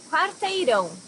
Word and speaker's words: Quarteirão: Quarteirão, block. So here you also have this nasal sound and the R, quar.